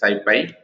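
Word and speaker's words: SciPy: go try to observe here the Skippy Skippy pronounced as like this Syfy is a python-based ecosystem of open source software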